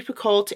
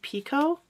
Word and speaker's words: Picoult: Jodi Picoult? I feel like I read somewhere that it's actually pronounced Pico, now that I think about it.